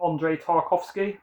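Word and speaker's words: Andrei Tarkovsky: that one soon and then stalker by um Andre tarkovski that's how you say it so yeah seen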